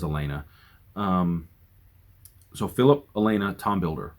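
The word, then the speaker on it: Aliena: as I read it the audio book had it as Ellie Ellie aina I think is how they pronounced it I saw it as Elena so Philip Elena Tom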